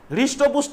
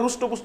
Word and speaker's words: হৃষ্টপুষ্ট: একটু মোটা সোতাটা দেখাচ্ছে হৃষ্টপুষ্ট কিন্তু ঠিক আছে হয় মদিনা সয়ট পয়ুষ্যু মদিনা সয়ট হৃষ্টপুষ্ট কেউ আবার রুষ্টপুষ্ট উচ্চারণ করবে স্তুূল যাকে স্তুূল মানে